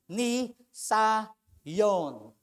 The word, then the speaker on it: Nisayon: So again it pronounce ni Sayon.